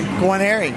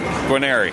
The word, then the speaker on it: Guarneri: Guarneri. Guarneri. Yes, perfect. I always want to add an extra R or something like that.